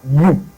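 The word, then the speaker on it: ewe: So the next one says "The pronunciation of that E W E that word is pronounced as "you." It has the same pronunciation and transcription as Y O U.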